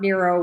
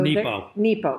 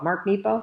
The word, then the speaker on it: Mark Nepo: Mark Nero was fighting cancer when he wrote this, and it's beautiful. So Nepo. Mark Nepo. Did I say it wrong? Nemo. I said Nemo.